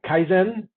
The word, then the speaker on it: Kaizen: Kaizen. Kaizen. Think Zen. Zen is good. Zan is actually bad.